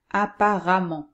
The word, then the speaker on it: apparemment: m m e nt mais attention la prononciation est la même on prononce amant donc par exemple à parent devient apparemment quand on prononce le ici comme a apparemment bruyant devient bruyamment évident de viens évidemment ici aussi le est prononcée a évidemment seule exception l'an on